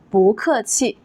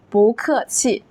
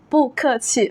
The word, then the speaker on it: 不客气: So therefore, we say 不客气, 不客气, not 不客气.